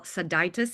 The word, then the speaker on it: Sodaitis: Crystal Seditis here.